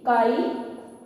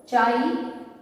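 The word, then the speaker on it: χ: electron affinity and electronegativity electronegativity को basically काई, चाई, जो भी वर्ड आपने प्रोनाउंस करना है, चाहे जो भी आप बोलना चाहे, बट इसको काई या चाई इस तरीके वर्ड से प्रोनाउंस किया जाता है, हम इसको इस तरीके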